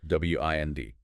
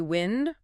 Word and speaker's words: wind: W I N D can be wind rhyming with send. That's the noun. Moving air. Or wind rhyming with find. That's the verb meaning to turn or coil something like winding a clock or a string.